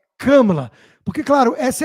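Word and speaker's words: Kamala: e da camelon Harris só que ele falou camala haris camala e o de a costa virou e falou assim Como ousa interrompeu o cara para falar é camala É camala porque claro essa é a prioridade o cara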